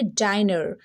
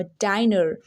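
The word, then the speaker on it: diner: आई क्या हो जाएगा अब इसको पढ़ेंगे डाइनर यस इसको क्या लॉन्ग में बोलना होगा डाइनर बट अगर दो कॉन्सोनेंट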